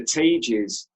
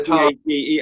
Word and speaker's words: Targas: You know how it's interesting because I've got a couple of albums by them, but I've always pronounced them as the Tages. No, it's the Targas.